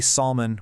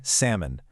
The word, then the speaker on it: salmon: It's the L. We don't say salmon, we say salmon.